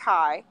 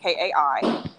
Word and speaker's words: Kai: Kai. Kai is my grandmother's name. Like it's just people pronounce it K, but it's Kai.